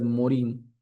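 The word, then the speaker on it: Morin: En 1999 eh un autor que yo se lo recomiendo mucho, Edgar Morán. Algunos eh se refieren o lo pronuncian como Edgar Morín.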